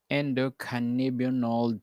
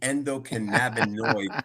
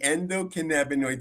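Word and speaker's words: endocannabinoid: How does cannabis interact with the endocanibold system to treat chronic conditions? Good effort. It's the endocanaboninoid system, but that's okay. It's medicine. It's medicine. It's hard to pronounce. It is the endockinabonoid system.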